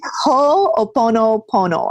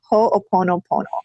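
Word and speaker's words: Hoʻoponopono: Because I don't really know how to pronounce it either. It's Ho'oponopono, I think. Ho'oponopono.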